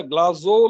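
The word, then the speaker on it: глаза: हाँ, stress sense तो ऊपर है ना, ग्लाजो लगता है, लेकिन हम लोग प्रोनाउंस करते हैं कि ग्लाजा। हाँ ग्लाजा, क्योंकि प्लूरल है ना वो, आइस।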